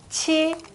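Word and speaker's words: 徵: 각이 되고, 그 다음에 치, 징자를 쓰고 치라고 읽으셔야 됩니다.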